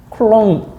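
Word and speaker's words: coulomb: 쿨롬 자 읽을 때 아 사람 이름은 쿨롱이다 쿨롱 사람 이름은 그 나라 사람이니까 그 나라 발음을 그대로 해 주는 거고 그다음에 아 단위는 이런 것들은 기본적으로 영어식으로 합니다 그래서 쿨롬이라고 해요 쿨롬음 쿨롬음는 쿨롬 이렇게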